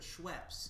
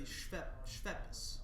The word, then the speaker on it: Schweppes: Usually people pronounce it Schweppes. Schweppes? But it should be Schweppes.